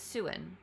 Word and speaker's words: Siouan: Okay, Siouan pronunciation. Siouan. Oh, it's Siouan.